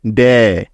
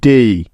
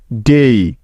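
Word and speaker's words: day: মিলে হয়ে যাবে ডেই ডেই শব্দটি কিন্তু ডে হবে না সঠিক উচ্চারণটি হবে ডেই ডেই ঠিক আছে ডেই অর্থ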